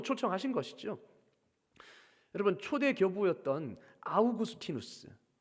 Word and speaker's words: 아우구스티누스: 여러분 초대 교부였던 아우구스티누스 영어 발음으로 어거스틴입니다. 라틴어 이름으로론 아우구스티누스이고 영어식 이름으로는 어거스틴. 여러분 성 어거스틴 많이 들어보셨죠?